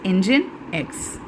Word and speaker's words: Nginx: This will be pronounced as Nginx.